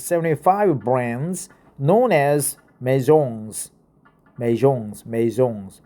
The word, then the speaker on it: maison: housing data from its 75 brands known as maisons. Maisons, right? Let's go and check out the pronunciation.